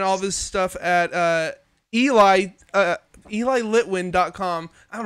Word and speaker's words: Eli: glitter uh you can find more music from ellie uh uh by checking out eli oh my god okay people here listening to